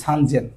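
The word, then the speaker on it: 三千: 3000 বলে সান, এটা সেন না বলে জেন বলে, সান জেন। তিনটা সবসময় ব্যতিক্রম সংখ্যার গণনার ক্ষেত্রে, 3-এর ঘরে। তাহলে 3000 মানে আছে সেন, তাহলে সান জেন, এটা ব্যতিক্রম।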